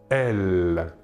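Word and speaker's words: elles: troisè personne du pluriel est elle même chose que pour le masculin la S finale ne se prononce pas voilà pour les pronoms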